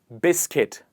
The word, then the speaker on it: biscuit: Is it biscuit or is it biscuit? The kut here changes to kit and it becomes biscuit.